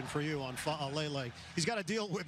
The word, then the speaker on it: Fa'alele: And very good pronunciation for you on Fa'alele.